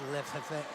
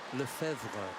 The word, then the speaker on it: Lefevre: Kyle of Great Britain here, up against Lefevre of Belgium. Is it, I think that's how do you say that? Lefevre. No, it's Lefevre.